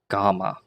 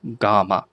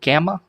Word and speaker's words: gamma: next one in in order after beta is GMA g m m a GMA some people will say G gamma but GMA is is how we're going to